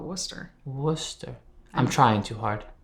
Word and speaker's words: Worcester: How do you say it? Well, we just call it Worcester.